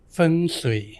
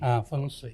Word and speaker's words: Feng Shui: Feng Shui. Oh, bacanya itu salah. Oke. Ya kalau orang Indonesia bilang Betul. feng gitu loh. Saya Indonesia banget. Feng Berarti Shui, Feng Shui. Feng Shui.